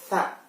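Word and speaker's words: ث: Sedangkan kalau bentuknya sama seperti ta dan ba, tapi ada 3 titik di atas, maka kita bacanya tha. Lidahnya ada di tengah-tengah gigi. Tha.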